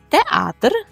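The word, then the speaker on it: teatr: Театр. Все те саме, тільки наголос театр. Театр.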